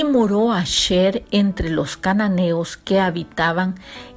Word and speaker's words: Asher: es la tribu de Aser. La tribu de Asher, como se pronuncia en el hebreo, dice el pasuk 31.